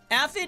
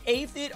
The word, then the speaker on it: Aphid: Aphid and Aphid are both the correct pronunciations.